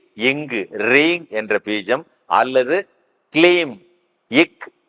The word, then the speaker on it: கிளீம்: கூடவே என்ன பண்ணிக்கலாம் அப்படின்னா கிளீம்ங் என்ற பீஜத்தை அல்லது ரீங் என்ற பீஜத்தை ரி இங்கு ரிங் என்ற பீஜம் அல்லது கிளீம் இக் லி இம் கிளீம் கே எல் இ எம் கிளீம் என்ற பீஜத்தை உச்சரிக்க தெரிஞ்சது அப்படின்னா அந்த தோஷங்களில் இருந்தும் சாபங்களில் இருந்தும்